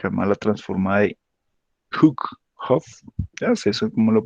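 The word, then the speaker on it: Hough: No sé, algunos la pronuncian Huff, otros la pronuncian Hugh.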